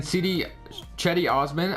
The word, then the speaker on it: Cedi Osman: All right, so we're in this NBA draft, and the Cavaliers trade their Nets pick and Cedi Osman, I believe that's how you say it now, for Kemba Walker and Dwight Howard.